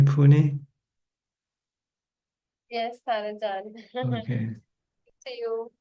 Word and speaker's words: Pune: Nita and Saget from Pune, India. Am I pronouncing correctly? Pune.